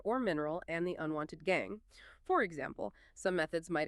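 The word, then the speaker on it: gangue: These earthly or rocky impurities are collectively known as gang, pronounced gang, gang.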